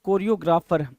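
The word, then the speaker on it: choreographer: यही चीज समझनी है कुछ लोग इसको चोरियो भी पढ़ते हैं तो चोरियो पढ़ो कोरियो पढ़ो समझ आना चाहिए जी राइट ऐसा कुछ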